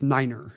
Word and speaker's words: niner: And then famously, the one that everyone does, 9 is niner. Niner, right. I assume to solve the 5/9 problem of them, hearing a long I over your thing and not knowing what it was.